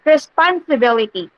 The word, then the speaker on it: responsibility: So, but be aware, class, okay, considering that you may meet words with three or more syllables like responsibility. So, the primary stress is on the bill, while the secondary stress is on the pon.